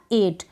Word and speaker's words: eight: तो ऐसी स्पेलिंग्स में जब भी आप देखें तो EIGH को पढ़ दें ए। क्या पढ़ेंगे? ए। तो ये बन गया 8।